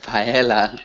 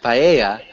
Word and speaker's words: paella: We have Spanish paella. Ah, paella. Paella. We wouldn't change the pronunciation of like a a typical Spanish dish, so it would still be paella.